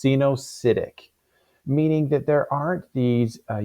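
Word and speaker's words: coenocytic: Or they can be what we refer to as, this looks like a weird spelling here, but it's pronounced cenocytic, meaning that there aren't these cellular units that separate these different cellular areas.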